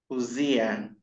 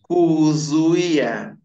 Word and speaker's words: kuzuia: Kuzuia. That is it now, kuzuia. Now you are leaving U, you are saying kuzia. You are leaving that vowel U, which is very important.